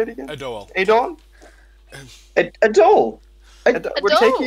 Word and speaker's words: Adoel: Adoel. Adoel? Adoel. We're Adoel. taking you to Adoel. Oh no. Okay, yeah, that's fair. What's wrong with Adoel? Well, actually, Man, it's fine. It's Adoel.